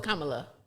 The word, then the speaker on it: Kamala: I'm still not saying right Kamala no it's Kamala I said it right the first time yes